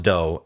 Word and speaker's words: do: Um this can be pronounced doe cuz it's the solfege um like do re mi.